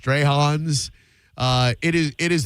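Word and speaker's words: Strachan's: from uh it's it's spelled Stratins, but it's pronounced Strayhons.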